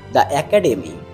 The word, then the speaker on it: the: সেই শব্দের আগে যদি টিএইচই বসে তাহলে এর উচ্চারণটা কি হবে? দি হবে। যেমন আমরা যদি বলি দা একাডেমি টিএইচই তারপর একাডেম তাহলে এখানে দা একাডেম না